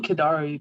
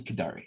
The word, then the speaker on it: Kadari: say the name again i'm saying kadari but i don't know if that's how you say it clan kidari yes you're saying it right okay yep i'll keep